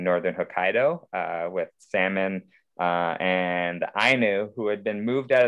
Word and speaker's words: Ainu: to connect with the they pronounce it ainu in japan and they're the indigenous